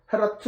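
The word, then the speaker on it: Geert Groote: 공동 운명 형제단을 창설한 헤라트, G로 되어 있잖아요. 네덜란드는 H 발음. 헤라트 후로떠는 영국의 전종교역자 위클리프와 동시대 사람입니다.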